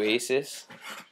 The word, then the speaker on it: Asus: just bought a new Aces Triple E it's pronounced Jesus like like Jesus Jesus EPC right here yo